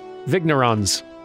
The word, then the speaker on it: vigneron: for now let's see vignerons sounds dumb hang on i'm looking it up oh vigneron okay so that's how it's said that makes sense that's